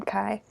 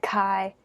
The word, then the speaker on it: Kai: think is it K is it Kai k is the inferior version in my opinion but some people pronounce it that way but I like Kai oh it is it